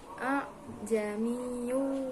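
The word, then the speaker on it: أأعجمي: Kemudian pada lafaz a'jamiyyu wa arabi, kan dalam Al-Qur'an tulisannya a'jamiyyu, namun di sini dibacanya tasil, yakni a'jamiyyu wa arabi.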